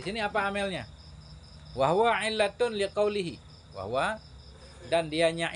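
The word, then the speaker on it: عِلَّةٌ: Au illatan, au illatun. Ya, illatun bacanya. Atau pada wahwa illatun.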